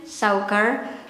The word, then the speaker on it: suiker: That's the way I pronounce it in daily conversation, suiker.